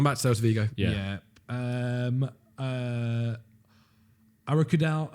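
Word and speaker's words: Arokodare: Arakudal, how do you say it? Arakudare.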